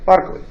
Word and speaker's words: Berkeley: is named after it berkeley is named after barclay that's because irish with the irish pronunciation by clay all right that's what you get barclay so what's he about